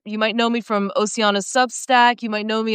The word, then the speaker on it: Ossiana: I guess I pronounced your name wrong. It's Oiana.